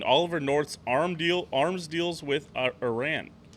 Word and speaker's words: Iran: The bank was accused of helping Saddam Hussein hide Iraqi oil profits and backing Oliver North's arms deals with Iran. It's pronounced Iran.